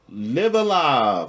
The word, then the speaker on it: Live A Live: we got live alive I think that's how you pronounce it right not live a live or live Alive live alive I think it's live alive oh it's laive okay I think I'm not totally sure to be honest with it all right it's it's the uh Stupid English where you can pronounce this two different ways uh but uh I